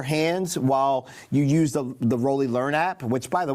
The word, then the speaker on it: Roli: Or if you want to get back into it, it's called the Roli Piano System. That's spelled R-O-L-I, and it's not an 88-key keyboard.